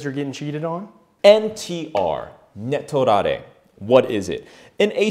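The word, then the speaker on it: 寝取られ: Netorare. Netorare. Netorare. So this is a Japanese word. Let's break it down phonetically. So ne, referring to sleep, as in sleeping with someone in an affair, aka cheating.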